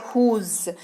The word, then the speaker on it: whose: अगला शब्द है हुज, WHOSE उच्चारण इसका होता है हुज।